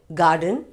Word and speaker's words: garden: r sound it should be garden and are silent ga den garden father okay father but